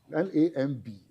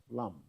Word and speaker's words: lamb: L A M B. Lamb. Lamb. It's pronounced lamb.